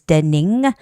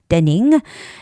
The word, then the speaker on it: Denning: dening you know you have to be careful it's not Deni with an with a Y but it's with ing ending so it's dening dening and downtown isn't so